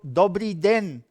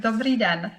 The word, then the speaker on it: Dobrý den: Dobrý den. Is that how you say it in Czech? That's absolutely perfect. Dobrý den.